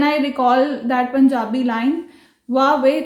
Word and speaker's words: Huawei: So the next brand in the list is Huawei. Yes, it's not Huawei, it's Huawei. Although it starts with H, but हम इसको pronounce करेंगे Huawei.